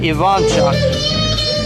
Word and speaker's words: Ivanchuk: But right here, the 18th, this is Vasily Ivanchuk. A lot of people pronounce it Ivanchuk. It's actually correct. He's from the Ukraine. The Ukrainian pronunciation is Ivanchuk.